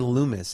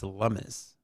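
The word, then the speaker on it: Lummis: Um I want to I want to live somewhere where And it's not Cynthia Lumis, it's Lumis.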